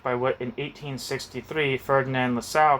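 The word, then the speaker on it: Lassalle: in 1863 Ferdinand LaSalle I want to see how you pronounce that guy's name I would say LaSalle but I'm also curious one second it is LaSalle the reason I was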